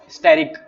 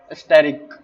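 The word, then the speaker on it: asterisk: Multiply का स्टेरिक, इसके start में ए यूज होता है लेकिन वो साइलेंट होता है। स्टेरिक, एस्टेरिक, ठीक है।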